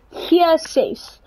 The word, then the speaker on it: G6: So how you would pronounce this in Afrikaans is hier 6.